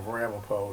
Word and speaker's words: Ramapough: The original spelling of Ramapough is how the school and the police station spell it, R-A-M-A-P-O.